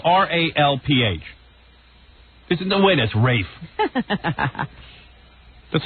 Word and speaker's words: Ralph: But it's spelled R-A-L-F. Right, and that's exactly what Kathleen Turner called him last night, Ralph, because she was the one who presented his award.